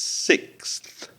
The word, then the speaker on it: sixth: When it's six, it's sixth. So that's difficult because you've got the C of the X sound and then immediately you've got to put your tongue between your teeth to get that sound, that th sound.